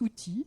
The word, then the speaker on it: UWTI: Alors, ça se lit UWTI, mais ça se prononce outil, et ce n'est pas